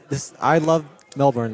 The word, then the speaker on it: Melbourne: But I gotta know it is Melbourne, all right? Melbourne. Yeah. Just Melbourne. Yeah, just so you know, I want to make sure that you are pronouncing that name of that city correctly.